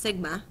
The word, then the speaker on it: sigma: And we use this symbol, lowercase letter s in Greeks, it's pronounced sigma, to represent population standard deviation, and just so similar to the one above.